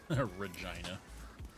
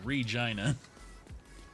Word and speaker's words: Regina: Spelled like the name Regina, but it is pronounced with a long I. Regina. It's a It's when you It's when you hit it twice. Yeah. Regina.